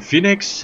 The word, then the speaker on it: Phoenix: Also, ich fahre heute die Phoenix.